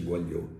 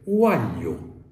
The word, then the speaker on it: uagliò: sono sgardi Mi disse non si dice Guaglio si dice Guaglio Guaglio Guaglio Guaglio togliere la G ha significato diventare napoletano quello è stato il